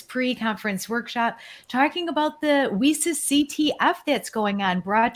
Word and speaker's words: WiCyS: We often go by our acronym WiCyS, W-I-C-Y-S, and we pronounce it WiCyS, like we sisters, because we are a cyber sisterhood.